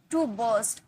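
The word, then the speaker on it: burst: टू बस्ट। Art silent होता है। ठीक है? टू बस्ट। बस्ट नहीं बोलेंगे।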